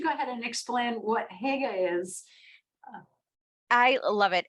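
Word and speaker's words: hygge: and I was like no it's not pronounced that way like I had to learn to be like hug like it comes from your like throat I it took me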